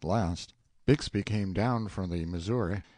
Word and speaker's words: Bixby: manner are you Horus bigsby's Cub Bixby being usually pronounced Bigsby in River parlins Sam answered politely enough